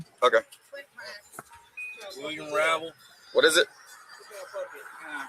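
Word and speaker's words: Hrabal: Rabal, it's the H is silent.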